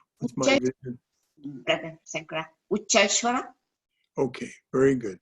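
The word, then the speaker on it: Uchchaihshravas: Ucheshwara. Okay, very good. Say it again, please. Ucheshwara. Ucheshwara. Oh, Ucheshwara? Okay. He Ucheshwara.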